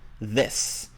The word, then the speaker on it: this: Yeah, and as Maggie pointed out, these, it has a Z sound at the end, whereas this has an S sound. So not this, no, this, and not these, no, these.